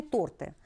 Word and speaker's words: торты: торты имеет окончание вкусные торты обращаю ваше внимание на то что в слове торт и ударение будут падать обязательно на первый слог дар вкусные торты выражение